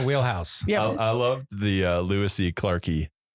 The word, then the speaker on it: lewisii: I loved the Lewisii clarkii. Is that how you say it? Or is it a long I? That works. Lewisii clarkii.